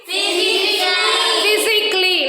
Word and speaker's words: physically: Physically, not physically.